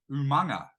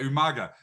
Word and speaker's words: Umaga: had the late great umanga Umaga how do you say it Umaga Umaga yeah Umaga I get confused because of Tana umanga which is not the same and obviously both have